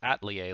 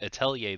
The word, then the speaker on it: Atelier: Fun fact, just learned how to pronounce Atelier like 2 days ago. I've been calling it Atelier this entire time, but no, it's Atelier.